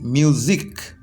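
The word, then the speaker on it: music: তো এটা করলাম এম ইউ এস আই সি মিউজিক এম ইউ এস আই সি মিউজিক এটাকেও দেখো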